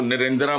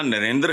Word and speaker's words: नरेंद्र: है ना इसको प्रोनाउंस यह ना नरेंद्र है ना नरेंद्र है यह नरेंद्र हल्का सा बहाल दुनिया के अमीर